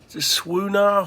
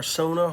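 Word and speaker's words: suona: it's um it's uh this thing's not even pronounced the way it's spelled it's like it's a swoonah horn it's spelled s-u-o-n-a like sauna or sona horn it's a chinese horn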